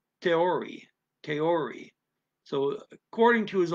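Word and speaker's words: theorie: to his own theory it looks like the word theory but it's it's that they don't pronounce ch's and neither dutch nor german so it's teori kaiori so according to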